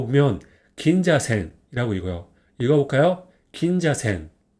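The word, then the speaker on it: 銀座線: 됩니다 운동으로는 생이라고 있습니다 그래서 전체적으로 이거 보면 긴자센이라고 읽어요 읽어 볼까요 긴자센 긴자센 그럼 한번 읽어 볼까요 이건 뭐죠 자 로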